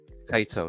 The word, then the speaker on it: Taito: Taito, That's yes.